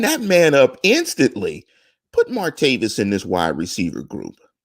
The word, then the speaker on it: Martavis: man up instantly put martavis in this wide receiver Gruber or is it much change a lot wouldn't it is it martavius you know martavius would be the african-american mispronunciation of the name it's armaid of this